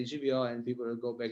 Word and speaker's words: živijo: Anyway, it's živijo. We have a native Slovenian speaker here. You can trust me. It's pronounced živijo, and yeah, it's a beautiful word.